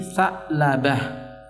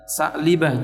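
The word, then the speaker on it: Tha'labah: Diva khaiya menjadi Abby sa'labah Nam bukan baca shaklee Bell tapi sa'labah kemudian lafadz hustani Hai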